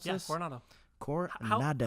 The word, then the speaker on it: Coronado: Is that how I pronounce this? Yeah, Coronado.